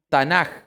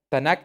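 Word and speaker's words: Tanakh: Testamento o Biblia hebrea esto se llama tanaj como suena O puedes escribirlo al final con una k tanaj o tanaj ya tanak es más correcto pero la pronunciación al español llega como tanaj ya porque son tres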